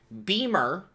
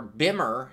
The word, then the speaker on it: Bimmer: But, to give you the real definition, Beamer, which could be spelled with an E or an A, or Bimmer is actually more correct, was a term given to original BMW motorcycles.